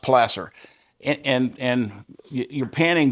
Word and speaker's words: placer: Placer is pronounced plaster and and and you're panning gold that's in a pure form and you'll find it washes out of the gravels and everything.